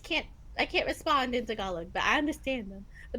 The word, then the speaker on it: Tagalog: T I keep Do you pronounce the G or not? Uh well, you do, but it's different. It's like Tagalog. Tagalogue.